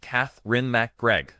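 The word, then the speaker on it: Katherine MacGregor: Catherine Mcregor, pronounced Cath Ren McGregor, or was born Dory Dean McGregor on January 12th, 1925 in Glendale, California.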